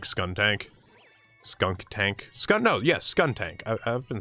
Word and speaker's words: Skuntank: No, yes, Skuntank.